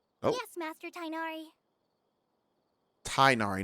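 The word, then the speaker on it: Tighnari: Tainari, not Tignari.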